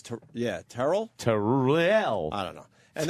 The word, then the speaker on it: Terrell: a lunatic, and doesn't like his name mispronounced, Terrell? even though everyone says Tyrell? what. Yeah, now I'm confused. What is it, Terrell? He says, Terrell.